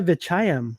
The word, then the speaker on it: Vechayiem: say your last name the uh vichayam okay i never heard of that last time